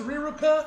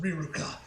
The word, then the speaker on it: Riruka: So I don't know, and it looks like in the Japanese as well it's also pronounced Riruka.